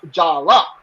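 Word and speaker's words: Jaller: name naming day so although it's spelt j-a-l-l-e-r even in the credits it's pronounced jalla you know what i'm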